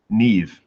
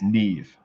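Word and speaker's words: Niamh: And this one comes from Neve. I believe I'm pronouncing that right. Probably not. It has an A and an M and an H in it. So I think, and she said pronounce Neve, smiley face, or a winky.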